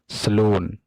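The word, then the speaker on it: salon: The stress will be on second syllable, that is सलून।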